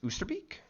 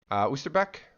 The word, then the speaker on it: Oosterbeek: But we are playing on, I believe it's pronounced Oosterbeek, Oosterbeek.